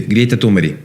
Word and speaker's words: Greta Thunberg: Sí, Greta Thunberg, porque así se pronuncia en su país de origen.